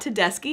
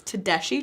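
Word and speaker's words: Tedeschi: It's not Tedeski, it's Tedeshi Trucks.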